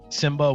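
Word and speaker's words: Symba: Simba with the Y. Simba with a Y, okay. Yeah. I thought you said Samba like that.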